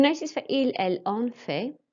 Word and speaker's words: fait: You'll notice for il, elle, on fait, it's pronounced exactly the same as if it was je or tu.